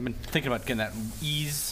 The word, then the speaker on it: Ys: I've been thinking about getting that ease. How do you pronounce YS?